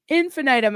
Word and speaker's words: infinitum: Yes, infinitum.